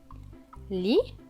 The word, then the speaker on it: lit: Il est écrit Papa lit. Le T à la fin ne se prononce pas puisqu'il est écrit en gris.